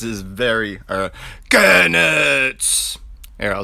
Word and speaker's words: Goenitz: Goenitz is very, Goenitz! Here, I'll say it the way his name's supposed to be pronounced one time.